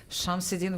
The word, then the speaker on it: Shamsiddin: I was ready to go to the game between Lanier and I'm going to mispronounce his name, so excuse me. Shamsiddin. Shamsiddin, yes.